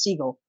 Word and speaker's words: Seagal: this earth yeah yeah but it's actually pronounced seagull well that is uh